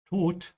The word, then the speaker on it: Tod: carefully, how I'm saying Tod, the D in German sounds a little bit between a D and a T in English.